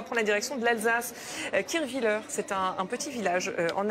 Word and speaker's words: Kirchwiller: Kirchwiller, c'est un petit village en Alsace. Bien prononcé.